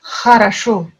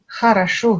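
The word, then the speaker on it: хорошо: Et on entend dans le mot, le premier mot qu'on apprend en russe, Kharasho. Kharasho, qui veut dire bien. Kharasho. Le son un peu guttural.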